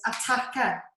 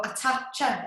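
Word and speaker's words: attacca: Okay, so the first word I've got is attacker, and that is, or attacher, it might be pronounced, and it's A-T-T-A-C-C-A.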